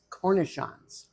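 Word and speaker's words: cornichons: pickles so and you called them who they're cornon cornishon I'm not going to have you spell that c r n i c h o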